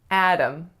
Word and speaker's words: Adam: This one is harder than it looks, so only two syllables. The first syllable is the strongest and it makes the a sound. The second syllable is schwa m, or a syllabic m.